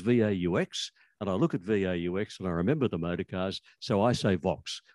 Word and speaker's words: Vaux: I tell you how I pronounce it, Vaux. And I'll tell you why. When I was growing up, there was a brand of motor car called a Vauxhall. And the first syllable of Vauxhall is Vaux.